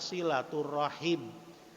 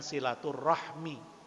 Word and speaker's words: silaturahim: Rasulullah Shallallahu Alaihi Wasallam adalah silaturahim bukan silaturahmi ada juga kalangan yang